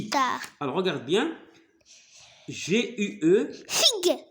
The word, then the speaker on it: guitare: Alors, si on veut, lorsqu'on ajoute le U devant G, qu'est-ce que ça Guitare. donne? Guitare. Très bien. Alors, G-U-I se prononce Gui. Guitare.